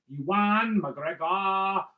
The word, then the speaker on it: McGregor: kenobi as played by yuan mcgregor that is actually how you pronounce his name mcgregor uh he's from a place called scotland if you know anybody